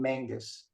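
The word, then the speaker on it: Magnus: I'm gonna pronounce the name Mangus, because that's the Scottish model, and almost everybody else uses it.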